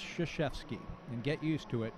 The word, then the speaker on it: Krzyzewski: It looks like Krzyzewski, but it's pronounced Krzyzewski.